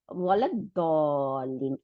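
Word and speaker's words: ولا الضالين: তাহলে গায়রিল মাগদুবি আলাইহিম, তারপর আবার ওয়ালা, এই যে ওয়ালা দ, এই যে দটা আবার শামসি লেটার, যার জন্য লামটা গিয়ে দকে ডবল করে দিছে, ওয়ালা দলিন। আর হামজাতুল ওয়াসলটা উচ্চারণে আসে নাই, তাই না?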